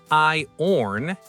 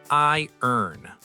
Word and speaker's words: iron: It's not I-orn, it's I-earn.